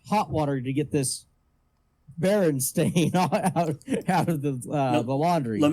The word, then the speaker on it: Berenstain: It's Berenstain. Because they were a stain on society. Not Stein. What? It's not Berstein. It's Berenstain. Yeah.